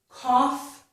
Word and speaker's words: cough: So the word cough has the aw and the f sound. The sentence I have for that is shake off your cough. Now I put this because off rhymes with cough.